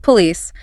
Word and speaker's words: police: Take police. The stress is on the second syllable. Po l i c e.